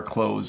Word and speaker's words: clothes: that we use sorry it's the same pronunciation as when we close a door even though it has a th in it we just say closed